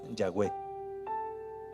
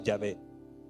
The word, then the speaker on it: Yahweh: Usted va a escuchar que a los judíos esas letras las pronunciaban Yahweh, así las pronunciaban. La Iglesia Católica la pronuncia Yahvé.